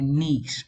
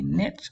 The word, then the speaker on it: niche: So these are niches or niche. Some say niche, some say niche, whichever way you choose to pronounce it.